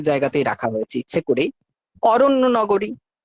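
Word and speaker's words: अरण्य: আরণ্য নগরী, আরণ্য নগরী। আপনি কোন সাউথ ইন্ডিয়ান, কোন নর্থ ইন্ডিয়ানের সংস্কৃত শুনবেন, তারা উচ্চারণ করবে আরণ্য নগরী। ঠিক আছে, আরণ্য নগরী, মূর্ধন্য নয়, স্পষ্ট উচ্চারণ হবে অরণ্য, অরণ্য নগরী।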